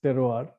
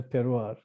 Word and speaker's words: terroir: i like to use which is often mispronounced as terror that i am part of the wider terroir uh which finds its